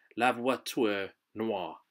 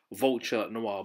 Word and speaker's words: La Voiture Noire: it's called the bugatti lava tour noir right some french word i was going to say vulture noir but it's not so i had to